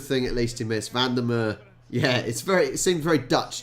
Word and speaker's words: Van der Merwe: Van der Merwe. Yeah, it seems very Dutch, doesn't it? Van der Merwe. Or Van der Merwe, however you want to pronounce it.